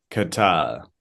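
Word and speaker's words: qué tal: Q and U is pronounced like C. Like K. Okay. Catal.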